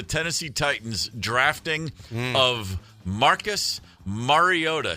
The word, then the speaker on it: Mariota: Roger Goodell announcing the Tennessee Titans drafting of Marcus Mariota.